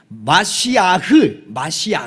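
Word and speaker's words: מָשִׁיחַ: 정확하게는 히브리어로 뭐라고 읽냐면 마시아흐 이렇게 읽어요.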